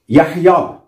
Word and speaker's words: يحيى: فلا بد أن يعني مثلا نقول يحيى، على آخرها ننطق ألف ونكتب ياء، فهذا هو التحويل.